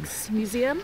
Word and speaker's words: Rijksmuseum: Yeah, we're just on our way now to the, how do you pronounce it? The Rijksmuseum. Rijksmuseum.